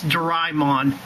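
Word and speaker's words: Dormammu: his latest video like dor it's not dor dormon it's Dron even the Disney XD dub pronounces it like that and yes I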